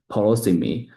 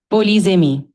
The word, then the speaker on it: polysemy: Can you say it again 10 times because I just forgot polosemy and I can pronounce it right now, but the pronunciation is did not went well.